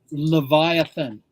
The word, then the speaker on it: Leviathan: How do you pronounce it? Leviathan.